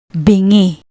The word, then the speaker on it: Bingi: Notice how no matter where the H or NG appears, the sound never changes. This makes reading and pronouncing Tagalog words much more predictable than in English.